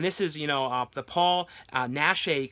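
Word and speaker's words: Paul Naschy: is you know the Paul nashe collection I believe that's how you say his name collection here and this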